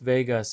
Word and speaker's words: vagus: The definition Andrew teus nerve pronounced vagus is the longest and most critical cranial nerve in your body.